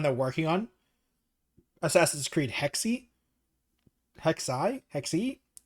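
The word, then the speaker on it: Hexe: They don't the the one they're working on Assassin's Creed Hexi Hexi Hexi. H E XE. I don't know how to pronounce that. I think it's Hexi.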